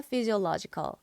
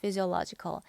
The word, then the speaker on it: physiological: 움직이는 메커니즘이 생리적인 거예요 그래서 이걸 사이라고 읽지 않는다는 거크 하게 되면 정신 계로 넘어가고요 지라고 발음이 됩니다 마치 여러분들이 알고 있는